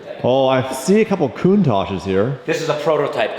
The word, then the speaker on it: Countach: Oh, I see a couple Countachs here. This is a prototype Countach. Prototype Countach. L150. In Japanese, by the way, it's pronounced Kauntaku.